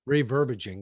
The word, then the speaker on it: reverbiaging: up with this word, reverbiaging. Is that, am I saying it right? Reverbiaging. Well, I said reverbaging. Yeah, reverbaging. That's it.